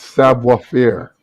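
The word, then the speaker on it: savoir faire: how you pronounce that no it's savoir fear okay whatever it is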